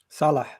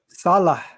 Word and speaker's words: Salah: Salah. Say again. Salah. Salah. I mean, it meant at the end, like ha at the end.